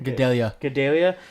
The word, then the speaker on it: Gadelha: Gadelha.